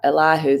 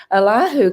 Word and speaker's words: Elihu: Now, you can pronounce that 4 different ways, so I just do Elihu. That seems to be the most prominent in the Hebrew.